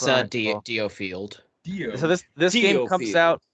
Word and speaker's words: DioField: It's Diofield.